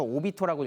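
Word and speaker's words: 首: 한자를 써서 미야스코라고 읽고, 수라고 한자를 써서 오비토라고 읽습니다.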